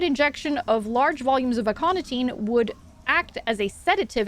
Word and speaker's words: aconitine: Aconitine, I don't know if it's a hard C or soft C, is commonly used as an acute toxin for large mammals such as whales and was chosen for its theoretical effectiveness on... Okay, hard C.